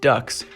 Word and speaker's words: DUKW: 4 DUKWs, pronounced ducks, which were amphibious vehicles, fought with Able Company.